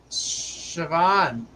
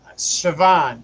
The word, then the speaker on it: Siobhan: Well, that's why they're not, Siobhan. Okay, that's how you say it. I'm sorry. See? It made it easier for me. All right. I would have said it the same way. Siobhan.